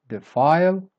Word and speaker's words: defile: Word number six, defile. So you start weak and then you go up. Defile, defile. Word number seven, dire, one syllable.